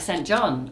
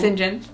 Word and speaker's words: St. John: Also, everyone would be like St. John, and then you'd be like, no, it's St. John. No, it's St. John. And they'd be like, but it says St. John.